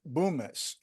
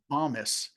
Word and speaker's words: Bomis: So And in 1996, Wales launched Boomis, which did have pornography on it. yeah, Uh, it's pronounced Bomis, as in, Bombus, yeah, like Bombus. BOMB, Bomis.